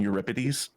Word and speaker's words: Euripides: Euripides. Close. Not ripe like fruit. Rip like a parchment. Euripids.